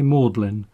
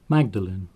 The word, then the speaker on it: Magdalen: as the lima express if you lived in oxford you would probably say maudlin but locally the name of the council estate is more usually pronounced magdalene one of the roads